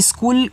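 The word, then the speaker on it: school: बहुत कम बनेगा, तो इसकी इंग्लिश होती है यस सी एच, यहाँ पे एच साइलेंट होता है, डबल ओ से बड़ा ऊ का मात्रा, और ला को यल से दिखाते हैं स्कूल की इंग्लिश, ठीक है।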